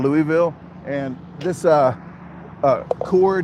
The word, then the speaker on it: Louisville: I say Lewisville as well instead of Louisville.